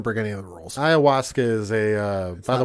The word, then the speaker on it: ayahuasca: doesn't it doesn't break any of the rules ayahuasca is a uh by the way that's that's how you pronounce it ayahuasca but it's not on the list that is